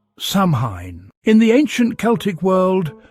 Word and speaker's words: Samhain: cold night of winter, was the festival of Samhine. Pronounced sawin, its name meant summer's end.